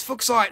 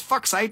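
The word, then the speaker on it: fuchsite: Rusty no no no it's foxite and the reason I say size because I can never remember how to spell it except when I remember that it is pronounced Fox 8 then I remember it is f-u-c-h-s-i-t-e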